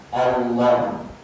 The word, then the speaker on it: Allah: beri lamnya itu tasbih Lam yang di tengah dikasih tasbih sehingga membacanya Allah.